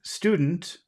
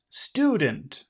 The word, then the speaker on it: student: of those words so we have the word student student student and the accent is here un stew and then we